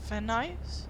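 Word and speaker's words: Van Nuys: This is of van ice.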